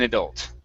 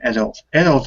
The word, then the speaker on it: adult: What is the right stress on in the adult or adult? Well, both pronunciations are fine. This is one of those words like potato, potato. Okay, where it just depends on where you grew up.